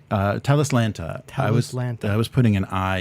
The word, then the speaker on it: Talislanta: all right so what is the correct correct pronunciation uh telus lanta i was putting an eye in the abs putting two eyes and so i was saying tell this lantern i think because i transcribed a an i